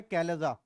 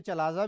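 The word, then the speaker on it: chalaza: Side है ये वाली, इसका नाम है कैलेजा। ठीक है, आप इसे चलाजा भी बोल सकते हैं, no problem, but spelling mistake नहीं होनी चाहिए।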